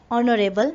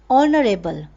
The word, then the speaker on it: honorable: Like for example, dash honorable man. Here the pronunciation is honorable and not honorable.